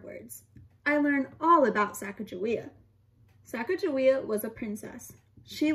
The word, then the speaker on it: Sacagawea: an indian girl she has a fancy name sacagawea you say it like this later miss glass